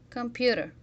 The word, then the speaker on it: computer: computer play a little computer listen to yourself the second syllable on the three is stress what are you doing